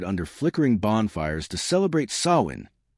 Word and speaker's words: Samhain: Long before plastic skeletons and haunted houses, ancient Celtic tribes gathered under flickering bonfires to celebrate Samhain, pronounced So-in, a night when the world of the living and the dead brushed close enough to touch.